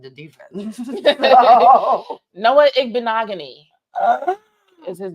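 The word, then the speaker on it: Noah Igbinoghene: ever said the defense Noah ignogony is his name for anybody who's still confused about how to pronounce that Noah ignogany I was like y'all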